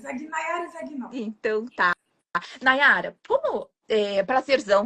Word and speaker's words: Zagnoli: no italiano se pronuncia Zagnoli, mas a gente fala Zagnoli.